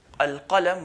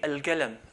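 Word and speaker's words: القلم: And the Khalij, the Gulf, Saudi, Kuwait, and so on, instead of saying al-qalam with the qaf, they change it to a g, al-galam.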